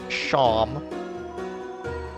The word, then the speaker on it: Seam: Name's Seam, it's pronounced Sham.